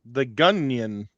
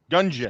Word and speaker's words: Gungeon: No, just as the Gunyan. Is that how you say it? Gunyan? Gungeon.